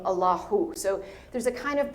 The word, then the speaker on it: Allahu: the divine name or the name Allah has a H sound at the end. When you say it in full form, it's Allahu, right?